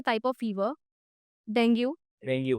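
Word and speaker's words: dengue: डेंगू गलत है, doctors भी डेंगू बोलते हैं। हाँ, हाँ, बोलते हैं? हाँ, बट it's wrong and आई कैन से on screen it is wrong. Right, right. The correct pronunciation is dinghy, dinghy, dinghy.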